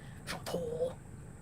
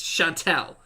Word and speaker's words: Chantel: Chantal. Chantel. It's Chantel.